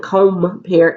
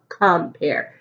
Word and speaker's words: compare: Is O making its own sound? No, the word isn't compare, it's compare. So the O is short.